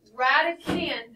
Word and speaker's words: radicand: So radican, the D on the end is silent. It is not radicand. And we're not saying radidon't. It is radican.